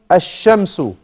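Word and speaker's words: الشَّمْسُ: If you see the shadda after the lam, that shows us we don't pronounce the lam. You only pronounce the alif. As-sakanu. Ash-shamsu.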